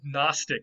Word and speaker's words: gnostic: is a word gnostic now today we don't say the g anymore but the greeks did so uh in greek this word was gnostic you would actually say you'd still say the g there in greek and this was an